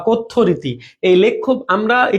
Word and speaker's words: কথ্য: হয়ে যায় উচ্চারণটা জ ফলা আছে তাই ওকার উচ্চারণ হবে কথ্য তাহলে আমাদের লেখ্যরীতি আর কথ্য রীতি ভাষারীতি কয়